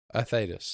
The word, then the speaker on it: Thetis: With the Optimus Prime guy, is it Thetis or Thaddeus? Thetis.